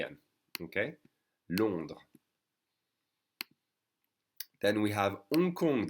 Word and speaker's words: Hong Kong: okay then we have unkong the h is silent dakar so we say